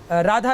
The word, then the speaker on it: राधा: जिसको पाठ करेंगे तो राधा ही आएगा पर वहां व्याख्या में आधा वं तो हो जाएगा पर उच्चारण में तो राधा लिखा है उच्चारण तो राधा ही होगा जब उसकी व्याख्या